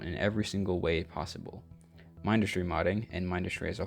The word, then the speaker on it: Mindustry: Third, Mindustry and my Mindustry mods. Yes, I pronounce it Mindustry. I know there is some discourse over if it's Mindustry or Mindustry. I pronounce it Mindustry, and that's not going to change.